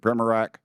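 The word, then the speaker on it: Primorac: Primac, is that correct? How do you say that? Primac? I got Burchett, man. Nobody gets mine right, so don't worry about it. What is it, Primac?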